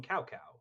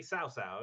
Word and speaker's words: Cao Cao: don't know like his they call him cow cow in in in isn't it SAA it's it's supposed to be SAA yeah um but it's spelled CAO CAO it do look that